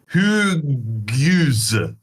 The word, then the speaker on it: Hugues: Well, the French, you don't pronounce an H at the start of the word, right? So when his name is spelled Hugo's... Hugo. Did you mean to say Hugo? No, because there's no O. This is not Hugo. It's Hugues. Hugues. Hugues. Hugues. So, like, of the 6 letters in his first name, you're pronouncing 2.